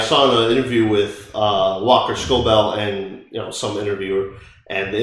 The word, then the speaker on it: Scobell: So I thought it was Scoble, but it's Scobell.